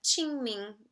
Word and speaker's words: Qingming: ming festival and uh in pinyon that's spelled q i n g m i n g and the q in chinese is a ch ch sound ching um so ching ming and um this festival